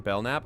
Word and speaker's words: Belknap: I believe the K is silent in Belknap.